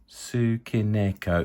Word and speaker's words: Tsukineko: I think it's Tsukineko. Tsukineko, yes.